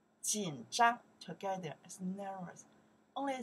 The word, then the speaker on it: 紧张: 紧张, one more time. 紧张, okay. 紧张, that's the character we pronounce 紧.